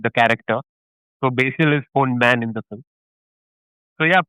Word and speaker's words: Ponman: It's actually a wordplay. It's Right. called Old man, right? Ponman. Ponman means kingfisher in Oh, okay. Malayalam. It's kingfisher's Malayalam is Ponman, and Ponman because gold man, Right.